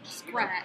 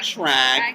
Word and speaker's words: Schrag: So rhymes with swag. Shwaggy. All right, so Shira Elka Blumenthal. A little louder. Okay. A little louder, because there's a lot of background noise. There is. Okay. So, project. I know, I'm going to have to work on that. Just do it. Okay. Guys, just do it. Shira Elka Blumenthal and Schrag. How do you pronounce that again? Schrag. But you got to do more nasal.